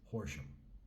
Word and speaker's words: Horam: am getting by in ham England horam England pronounced horam I've been here for about two and a